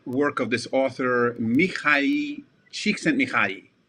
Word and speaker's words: Csikszentmihalyi: of this author, Mihai Csikszentmihalyi. I can pronounce his name because he's Hungarian, and I have Hungarian ancestry, so I can say Csikszentmihalyi.